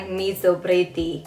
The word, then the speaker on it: Miso Pretty: It's actually spelled like miso, but it sounds like Miso Pretty.